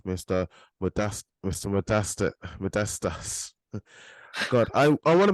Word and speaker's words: Modestas: you said the first name correctly though mate modestus Perfect Mate perfect so look um have you